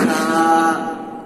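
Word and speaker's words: ث: আরো একখানা নোক্তা বসিয়ে দিলাম, তাহলে হয়ে গেল সা, সা। জিভের আগাটা বাইর করে দেন, সা।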